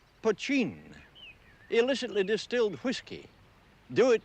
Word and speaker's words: poitín: name for the stuff that spelled potin and pronounced poin illicitly distilled whiskey do it yourself Hooch and